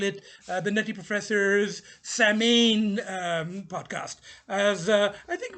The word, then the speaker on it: Samhain: it's spelt uh s-a-m-h-a-i-n uh but the age is silent sir it's uh same i think originally it was sawing and it was the harvest festival um uh